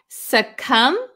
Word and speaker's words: succumb: let's see suum suum remember the silent B we don't pronounce it suum suum is a verb